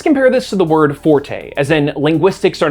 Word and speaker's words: forte: Let's compare this to the word forte, as in linguistics are not my forte. Technically, that word should be pronounced fort, or more accurately, in a French accent with that weird R sound that I can never properly get down.